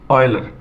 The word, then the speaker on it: Euler: आप यूलर नहीं पढ़िए इसका प्रोनंसिएशन वही करते हैं जो इंग्लिश के इस वर्ड का करते हैं ओ आई एल ई आर इसका प्रोनंसिएशन करिए यलर वही प्रोनंसिएशन इसका होता है यह बात लिखी हुई